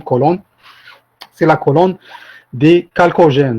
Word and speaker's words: chalcogène: C'est la colonne des chalcogènes. Donc, ça s'écrit en CH, mais on la prononce chalcogène.